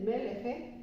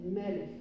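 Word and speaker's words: מלך: Lleva acento en la primera sílaba y aquí tiene una kaf final. Cuando el Sheva está debajo de la kaf final, tampoco se pronuncia el Sheva. No se dice meleje, se dice melech.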